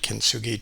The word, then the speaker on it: kintsugi: had a quick look at uh the word kintsugi to get the pronunciation and uh found out that it means